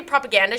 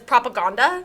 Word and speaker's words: propaganda: She doesn't say propaganda, she says propaganda.